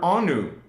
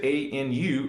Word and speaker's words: Anu: Now, most of the internet and people, historians, will just pronounce it A-N-U, Anu. Well, the Guardians, from millions and billions of years ago, call it the Anu.